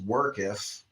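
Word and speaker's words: worketh: So workith is pronounced workketh. That's not a common one. It's like earth. Workketh.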